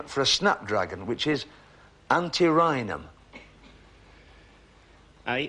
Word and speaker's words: antirrhinum: the scientific name for a Snapdragon which is antirrhinum sorry I'll say it again for you a scientific name for a Snapdragon which is antirrhinum a n see a ry in him it's